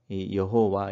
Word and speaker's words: 여호와: 4개의 자음으로 구성되어져 있는데 그것을 아도나이 라고 하는 모음 으로 구성되어져 있는 주님 이라는 뜻의 이스라엘 백성들이 하나님의 이름을 부르지 않고 그냥 주님 이렇게 이제 읽었었는데 주님 이라고 다른 형태로 발음 햇던 그 모음을 합쳐서 이어 호와 이렇게 읽습니다 그리고 지금은 이 자음